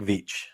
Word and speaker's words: Veitch: It rhymes with beach. Going to the beach, it's Rick Veitch.